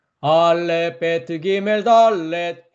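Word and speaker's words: דלת: 기역 발음이었습니다. 그 다음엔 달렛.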